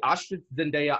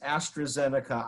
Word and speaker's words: AstraZeneca: three boxes of the ash zendaya oxycotin please well you didn't pronounce it quite right it's astrazeneca oxford lassie eniga foxter astrazeneca